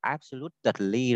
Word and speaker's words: absolutely: Chữ tờ ấy mà đứng trước cái đôi ly ấy thì mình sẽ nuốt nó đi, mình không đọc là absolutely đâu nhá.